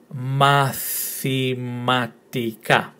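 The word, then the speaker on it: μαθηματικά: Mathematica. Mathematica. Did you get that right? The tone in the last syllable. So the emphasis in the pronunciation is in the last syllable. Mathematica.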